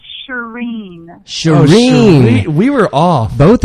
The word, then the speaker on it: Shirin: Most people say Shirin. Oh, that's what we said. Yes, but it's Persian, and there is no in sound in that part of the world. So it's Shirin. It's a long E sound.